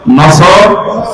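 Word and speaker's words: نصر: আয়াতে না তিনটা সূরা তিন আয়াত বিশিষ্ট আসর নসর কাউসার তারপরে আয়াতটা পড়েছি এটা তেলাওয়াত শুদ্ধ অনেকের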